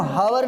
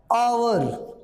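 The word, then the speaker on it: hour: आवर हमने लिखा आवर, लेकिन ये हम हावर नहीं है, एच जो इंग्लिश में है उससे में कोई मतलब नहीं, हम प्रोनाउंस करेंगे, उच्चारण करेंगे, और उच्चारण में हमारा क्या रहा है इसका, आवर।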